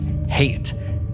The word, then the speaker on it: Hayt: In the book, it's spelled h a y t, but it's pronounced like hate, and that's deliberate.